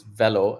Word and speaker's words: Velo: as ceo and co-founder called fellow cloud and it's velo actually and it velo is